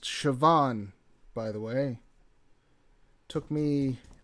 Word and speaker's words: Siobhan: that name is pronounced Siobhan by the way took me an embarrassing amount of time to to realize that I don't know what that B is doing in there but that's Gaelic for you also the the the